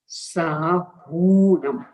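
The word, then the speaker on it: साहूणं: नमो लोए सभ्य साहूनम, यहाँ भी उच्चारण है साहूनम, दीर्घ, साहूनम नहीं, यानी हिरस्व नहीं, छोटे नहीं, बड़े।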